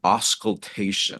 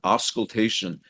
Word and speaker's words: auscultation: But there's a word called auscultation. I think I'm pronouncing it right. Yeah, auscultation.